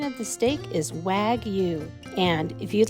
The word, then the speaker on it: wagyu: up and we'll see you later the correct pronunciation of the steak is wagyu and if you'd like 20 off you're an